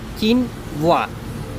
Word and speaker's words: quinoa: super food now that you know how to pronounce it let's practice because practice makes man perfect or woman anybody repeat after me kin wa great let's use it in a sentence I made a delicious quinoa salad for lunch how did you pronounce kinwa